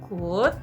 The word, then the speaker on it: could: Tapi kalau kita bilang could, yang tadi, yang L-nya nggak dibaca itu adalah kebisaan di masa lalu.